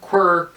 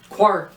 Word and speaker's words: quark: And there's some debate on, is it quark, is it quark, is it quirk, is it quirk? It's quark because that's how Murray Gell-Mann pronounced it.